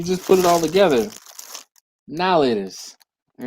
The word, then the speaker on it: Now and Later: I, being from Philadelphia, we call them, y'all ready for this? Nowlators. Nowlators. Because they're now and later. But nobody says now and later.